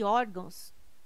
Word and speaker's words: órgãos: Caráter, intransferível e órgãos tem sua sílaba tônica na penúltima sílaba. São paroxítonas. Observação. Poderia gerar dúvida a palavra órgãos, mas ela não termina em O, termina em ão.